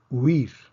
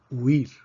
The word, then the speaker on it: huir: Huir. Huir. En este caso, otra vez, tenemos una secuencia de 2 vocales cerradas, u, i. Eso se considera un diptongo. Por lo tanto, la palabra huir solamente tiene una sílaba para efectos de silabeo.